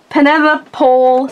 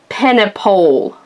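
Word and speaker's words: Penepole: It's Pennypole. Please pronounce it precisely. I thought like Pennypole. Like Penelope. Yeah, maybe it's Pennypole. Yeah, that would make sense.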